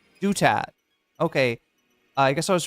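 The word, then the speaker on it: Douthat: It's Dutat. Okay, it's not Ross Do That, which was what his mom probably called him.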